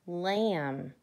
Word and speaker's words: lamb: what about this one lamb do we say mary had a little lamb but no the B is silent so we need to